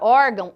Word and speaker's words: órgão: não marca acentuação tônica observem a palavra órgão a sílaba mais forte da palavra órgão é o or é a penúltima sílaba o tiu Ele marca apenas a nasalização ele marca que o som que eu estou produzindo não sai exclusivamente da minha boca e sim também do nariz nós temos as paroxítonas